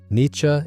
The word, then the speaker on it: Nietzsche: Nietzsche is roughly how you say it in German, though the English version has developed its own stubborn persistence, who lived from 1844